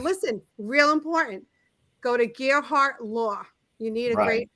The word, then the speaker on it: Gearhart: spelled g-e-a-r-h-a dot com so it's like a gear like the gear and uh the heart without the e and you put them together and you stick a